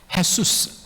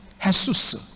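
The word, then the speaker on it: Jesús: 헤수스. 여러분, 우리는 제이로 쓰지만 이 스페니쉬는 그것을 히읗 발음으로 그렇게 발음하죠. 헤수스.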